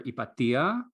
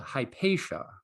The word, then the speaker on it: Hypatia: call me um in greek i would call her ipatia in the american english i'm used to she's more often called hypatia how do you pronounce